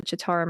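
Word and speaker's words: Citarum: It's pronounced the Chitauram River.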